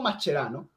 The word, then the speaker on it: Mascherano: Entonces, la pronunciación correcta y no ignorante es la que dice Enzo. O sea, eso dice, él se dice mascherano. ¿Por qué se tiene que decir mascherano? Porque él lo presenta y di, "Yo me llamo, ¿cómo se llama?" Bueno, Mascherano, se me olvidó el nombre, Mascherano, porque es argentino. El se siente argentino lo pronuncia como argentino.